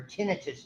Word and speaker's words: tinnitus: And this, a word tinnitus, or tinnitus is the appropriate pronunciation. My wife just corrected me because she learned in nursing that it was tinnitus, not tinnitus.